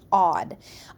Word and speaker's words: aud: a UD D odd it is pronounced odd odd is a Latin